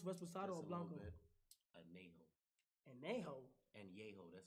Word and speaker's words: Añejo: Añejo, that's how you pronounce it. Añejo. Añejo. What the f***? Añejo. That's how you say it in Spanish.